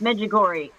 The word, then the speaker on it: Medjugorje: to not pronounce. The G or Medjugorje the sounds J good. are any of them silent? It's Medjugorje.